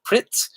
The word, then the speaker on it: Pretz: They have a snack called Pritz. It looks like it's spelled Pretz, Pretz, Prez. I don't know how they spell, but they pronounce it Pritz.